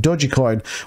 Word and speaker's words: Dogecoin: says the price surgeon Dogecoin pronounced dodgy coin with a soft G sound also coincided with rumors